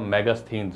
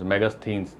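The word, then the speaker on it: Megasthenes: spelling बड़ी जटिल है आप बोलने में जैसे आप कर सकते हो मैगस थिनस मैगस थिनस मैगी याद कर लो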